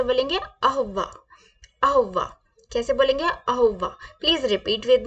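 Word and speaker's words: au revoir: करना है कैसे बोलेंगे गुड बाय कैसे बोलेंगे अहवा कैसे बोलेंगे अहवा अहवा कैसे बोलेंगे अहवा please repeat with me अहवा अहवा good bye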